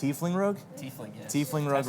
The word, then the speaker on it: Tiefling: We have 2 figures that we're giving out: the half-orc fighter and the is that pronounced Tiefling Rogue? Tiefling, yes.